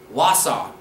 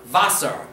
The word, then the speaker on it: Wasser: But in Pennsylvania Dutch, they actually make a W sound like they do in English. So the word here that I have printed here would be pronounced Wasser. W, W, Wasser. Not Wasser, like in High German.